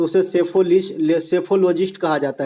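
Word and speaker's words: psephologist: है तो उसे सेफॉलिश सैफोलजिस्ट कहा जाता है ठीक है सेफोलॉजिस्ट कहा जाता है ये भी बात ध्यान रखेंगे इसमें पी साइलेंट होता है पी से लिखा जाता है सेफोलॉजिस्ट ठीक है सुप्रीम कोर्ट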